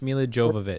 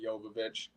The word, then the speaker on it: Jovovich: Oh, I like that's probably it's probably Yovich. Yeah. Silent J. A silent A. Thank you, Jen. Oh my god. It's not a silent J. It's just pronounced with a Y.